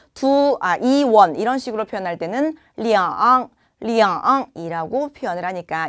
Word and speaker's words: 两: 숫자 2는 R이라고 읽죠. 자, 그런데 R이라고 표현하는 이 숫자 2가요. 시간, 수량, 금액 등을 표현할 때는 리앙이라고 표현이 된다고 합니다.